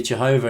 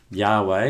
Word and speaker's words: Yahweh: fallacious argument so firstly Jehovah is a very inaccurate way of pronouncing the tetragrammaton Yahweh is far closer to how it should be pronounced secondly the word Jehovah